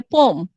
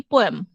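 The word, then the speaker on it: poem: তোমরা কি জানো, ফর এক্সাম্পল, যেমন এখন আমাকে অনেক কষ্ট করে উচ্চারণ করতে হয় পোম। আমরা সারা জীবন পড়ে আসছি পোয়েম।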